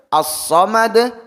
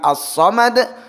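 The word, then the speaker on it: الصمد: Jadi ahad bukan ahada, assomad bukan assomada, alfalaqo bukan alfalaqoh. Kemudian kesalahan ketiga adalah memperpanjang bunyi qalqalah.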